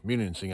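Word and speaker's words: Munising: we are in beautiful menuning muning muning I believe is how they pronounce it up here right here on the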